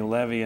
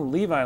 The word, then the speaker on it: Levi: Yeah, I was in Italy, and everybody kept calling me Levi, and I said, no, Levi, like the jeans, and they said, yeah, Levi.